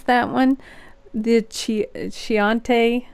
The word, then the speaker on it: Chianti: two is, can I pronounce that one? The Chianti. Chianti, yeah.